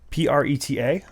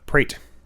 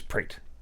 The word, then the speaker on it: Pret: box cutter whatever and I discovered something yes PR ET a credit not pronounced Preta prate no no a sound in in according to